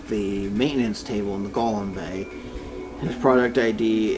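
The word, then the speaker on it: GOLM: much to his surprise it ends up being pronounced like Gollum anyway a side note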